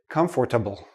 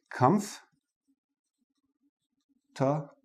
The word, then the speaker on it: comfortable: say all the letters I've heard many students say comfortable comfortable but native speakers we don't say this part we don't say the or we say come top bull and notice the